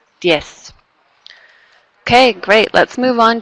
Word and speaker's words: diez: And again, that's a good example of when it doesn't buzz, right? It's just an S sound. Diez.